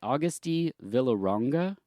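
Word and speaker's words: Agustí Villaronga: It's directed by Augusti Villaronga, and I'm not good with Spanish, so correct me on any pronunciation.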